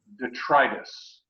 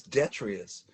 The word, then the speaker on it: detritus: to pronounce this word someone schooled me and said the pronunciation is detritus i always thought it was the treatise e-t-r-i-t-u-s oh i thought it was i thought it was detrious right one of us